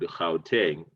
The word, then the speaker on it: Gauteng: i am in one of the provinces called khao teng so that g there is uh is pronounced so that's how teng province and because